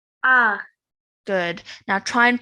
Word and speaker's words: ع: Ah. Good. Now try and pronounce this a bit different to how you pronounce a simple alif. So this one needs to be made from the middle of your throat, this sound.